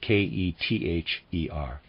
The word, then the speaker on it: Kether: by the ancient hebrews readers aside kether i'm pronouncing it that way is spelled k-e-t-h-e-r kether and of readers aside